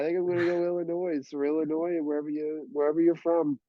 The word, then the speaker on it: Illinois: Say Illinois or Illinois when you say Illinois. Illinois. I'm Illinois, yeah. I feel like not the an S ois guy. is silent.